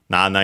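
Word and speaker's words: なな: in in the table then nana is the uh Japanese strictly Japanese pronunciation of the number seven just like yon is the strictly Japanese pronunc pronunciation of the number four.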